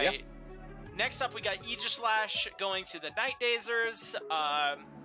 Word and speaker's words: Aegislash: Everybody mispronounces this Bond's name, and it annoys me, but maybe I'm just the weird one, but whatever. It's Aegis. Yeah. Aegislash.